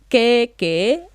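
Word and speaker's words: kēkē: Put the macron on top of the E. Keke are your armpits, part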